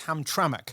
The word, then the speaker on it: Hamtramck: rolls from the locals there because I couldn't pronounce it it's Hamtramck and it's just outside Detroit the largest city